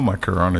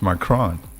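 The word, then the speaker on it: Macron: say that macaroni please it's not macaroni it's m cron okay so we all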